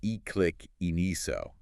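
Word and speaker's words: iqiniso: Ikiniso is a Zulu word pronounced e-click iniso, with that sharp palatal click.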